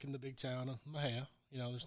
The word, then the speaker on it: Mexia: Back in the big town of Mahia, there's not Right. a lot going on around there. How do you spell it?